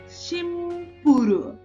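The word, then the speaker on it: シンプル: ई का प्रोनाउंसिएशन मतलब प्रोनाउंस नहीं किया। उसके बाद में सिंपल, शिमपुरु, शिमपुरु।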